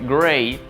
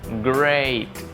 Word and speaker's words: great: Tenemos en el caso de great, que significa genial, great. ¿Ve? El sonido es diferente.